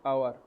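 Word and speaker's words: hour: आवर, आवर, अब लिखा तो एस से ही है पर पढ़ते इसको क्या है, आवर, प्रोनाउंसिएशन क्या है, आवर,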